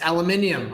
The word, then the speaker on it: aluminium: It's aluminium, Octo. Aluminium. No, aluminium is how you say it in every language but English.